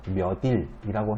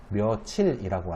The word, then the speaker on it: 며칠: 똑같은 원리로 며칠도 치읓을 디귿으로 바꿔서 몇일이라고 해야 되는데 그렇게 발음 잘 안 하죠. 며칠이라고 하죠.